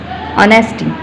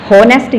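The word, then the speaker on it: honesty: ऑनेस्टी, दयानतदारी, ऑनेस्टी, इसको हम लिखते एच हैं, होनेस्टी इसको नहीं पढ़ेंगे, एच को हम साइलेंट करते हैं, दिस इज ऑनेस्टी। ओ की साउंड से हम स्टार्ट करेंगे लेकिन लिखने में एच आएगा, this is ऑनेस्टी, नॉट होनेस्टी नहीं, ऑनेस्टी।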